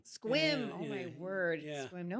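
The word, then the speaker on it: Sequim: and play if they would just actually Squim. Squim.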